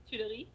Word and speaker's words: Tuileries: My room was looking out on the Garden Tuileries. Am I pronouncing it correctly? Tuileries.